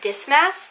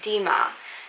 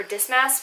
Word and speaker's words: Dismas: talk about is actually saint dismas or others pronounce it dima now it's up to you but i prefer dis mass because this mess is just easier for me to pronounce and we